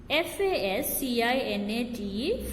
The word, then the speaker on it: fascinate: Next, letter group SC sometimes makes a s sound.